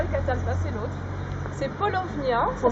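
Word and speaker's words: Paulownia: C'est polovnia. Ça s'écrit P A U P L O W N I A Polovnia.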